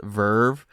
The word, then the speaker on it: VRV: It's spelled VRV, but it's pronounced Verve. And this was launched in 2016. And so Verve was really interesting.